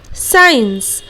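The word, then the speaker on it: science: लोग वापस नहीं करेंगे पर एग्जांपल जैसे की साइंस और सी दोनों यहां पर मौजूद है तो इसीलिए सी का उच्चारण हम लोग यहां पर नहीं करते हैं साइंस सी यहां पर हो जाएगा बिल्कुल भी नहीं करेंगे ठीक इस तरह वह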